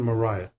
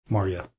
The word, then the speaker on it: Marya: Now, you may have noticed I've pronounced her name two different ways, Maria and Mariah. they're kind of interchangeable from what I've seen. I've seen, you know, with all the different works I've been reading, and they're quite numerous, they pronounce them and write them differently. So I'm going to try to stay with Marya.